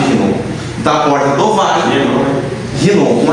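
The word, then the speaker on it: Hinom: Da porta do Vale, Rinom, com H, escreve com H, H-I-N-O-I-N, Vale de Rinom, pronuncia com R, né, escreve com H, Rinom.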